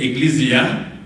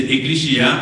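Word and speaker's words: ekklesia: vient du grec eclichia vous pvez prononcer eclisia mais c'est éclichia en grec qui signifie assemblé alors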